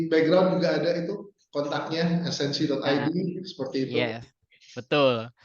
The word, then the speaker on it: snc.id: Bener kan ya bacanya snc.id ya? Barangkali salah nih Mas Bruce. Benar Mas, snc.id. esensi.id, benar.